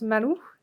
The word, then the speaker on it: maru: marque derrière on leur on se prononce malo et le symbole à l'intérieur se prononcent chimay c'est un symbole de